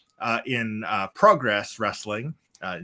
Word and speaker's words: Progress: 2 uh in uh progress wrestling uh you'll notice i said progress instead of just progress um because it's a british promotion yeah use the british pronunciation uh speaking of upsets